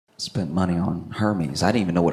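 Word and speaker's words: Hermès: spent money on Hermes. I didn't even know what Hermes was. Luxury bags. Her meds. They're Yeah, they're Are they men's? Hermes. It's pronounced.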